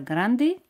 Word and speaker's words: grand: ¿Recordáis esta palabra grande? Grand. Grand. De al final no se pronuncia.